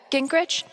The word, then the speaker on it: Gingrich: Steph, Gingrich, is that how you say it?